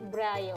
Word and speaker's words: Braille: Braille. Oke, Iya.